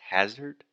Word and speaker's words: hazard: or something like that so that first sound is the AH just like dad master disaster so the correct pronunciation is hazard and then finally Alexia